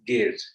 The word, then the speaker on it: gauge: in finding out so this giug is pronounced as gauge right railway gauges narrow gauge broad gauge whereas the white uh